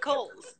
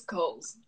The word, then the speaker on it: Cowles: It's Cowles. It's a silent W. It's Cowles.